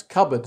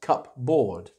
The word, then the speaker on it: cupboard: Other kinds of furniture around the house might include a cupboard, which we pronounce cupboard, not cupboard.